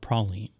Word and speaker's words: praline: the Gulf South is predominantly where it's called Proline but you start going even West to Texas